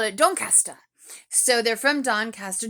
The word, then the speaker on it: Doncaster: to be young and in love they're from don questa um caddy said they're from dawn caster did i pronounce that correctly and simon said simon kind